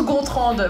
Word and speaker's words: Gontrand: mais oui mais avec ça se prononce contre voilà le D n'est pas muet et ça me fait